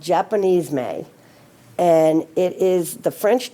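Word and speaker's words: Japonisme: about Jamon Isme I just learned how to pronounce it I've been saying it wrong it's called Japanese May and it is the French term that refers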